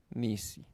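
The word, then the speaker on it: נִסִּי: Ni si lo hacemos así, ¿verdad? Diríamos, pues tenemos dos vocales, tenemos dos este dos sílabas, ¿verdad? Pero por ejemplo ni es uno. Sí, pero aquí se hace nis. Sí, lo correcto es nis. Luego si eso es lo que hace el dagges forte. Nis, no dice ni, no dice nis. Eso es una sílaba. Si la segunda, nis, si. Muy bien.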